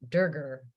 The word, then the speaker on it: Durger: Dan uh Dan Digger durger rhymes with Burger um anyway as she's